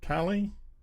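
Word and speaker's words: Kali: Carly, K-A-L-I, Kaylee, Callie. Callie. Yeah, Callie. We'll go for Callie.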